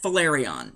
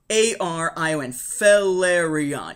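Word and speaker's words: Phelarion: they're above the planet valerion I believe it's how you pronounce it it's p-h-e-l-a-r-i-o-n valerion yeah that works Star Wars names you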